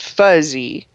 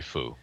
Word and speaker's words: PHUZ: called 201 Phe2-1, and they named the protein PHUZ, Phuz, or you could pronounce it fuzzy. Yeah, I think that. that it's foo myself, but I think it's probably foo.